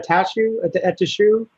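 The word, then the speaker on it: Attaochu: Jeremiah Atashu.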